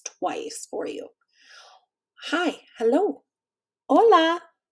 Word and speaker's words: Hola: Hola. Hola. Remember, an h is silent in Spanish.